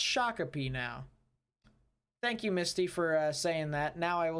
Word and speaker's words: Shakopee: my discord server that said shakopee the entire time and he said he lived there but no it's actually pronounced shakopee now thank you misty